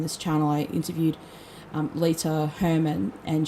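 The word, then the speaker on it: Leta: channel i interviewed um lita hermann and she l-e-t-a lead up her name is um but i sometimes say later because that's how we do it in australia sorry about that officer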